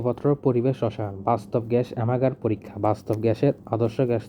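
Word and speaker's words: Amagat: পরিবেশ রসায়ন বাস্তব গ্যাস অ্যামাগার পরীক্ষা বাস্তব গ্যাসের আদর্শ গ্যাস থেকে বিচ্যুতি 17 এক্ষেত্রে দেখা যায় 1880 খ্রিস্টাব্দে ফরাসি বিজ্ঞানী অ্যামাগা প্রকৃতি উচ্চারণ অ্যামাগা স্থির তাপমাত্রায় বিভিন্ন গ্যাসের আয়তন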